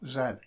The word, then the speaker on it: zed: parameters x y and z by the way in england we pronounce zed as well zed other countries may pronounce it as z as i live in england i'll continue to pronounce it zed anyway these parameters control